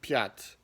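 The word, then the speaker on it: пять: takes so for example the word piat has a ya in it and that's how ya typically sounds it as long as it's stressed if it's unstressed then it gets reduced to this e sound or is sound so for example the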